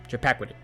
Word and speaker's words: Chappaquiddick: Then Edward Kennedy survives the Bear with me for this pronunciation. The Chappaquiddick Chappaquid- Chap- Chappaquiddick Chappaquiddick incident.